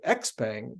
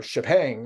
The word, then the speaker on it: Xpeng: uh Bev's shares of x-pang or ship hang I think is the right pronunciation we're down more than